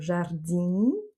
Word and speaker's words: jardim: le OU et jardim, donc là on a le son nasal IM, donc jardim, pour que, ici on a